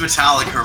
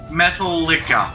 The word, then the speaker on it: Metallica: drink was cactus cooler he also pronounced Metallica wrong the ends pretend that he forgot them who did he pronounced it Metallica methyl liquor apparent must fella could no metal lick up metal Metallica would have sounded cool ellika yeah I was on now it was his favorite band and he pronounced their name wrong yes okay okay guys